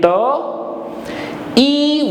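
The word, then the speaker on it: thé: TH will give you, as I just said, T sound, and E with this accent gives A sound. I just explained. So together it will become Te. TH from T from TH and A from E with this accent, and together it gives Te sound, which means tea in English.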